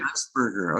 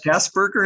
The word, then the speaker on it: Geisberger: Geisberger. Okay. It's me, Geisberger. Oh, is it Robert pronounced Geis- Gasberger?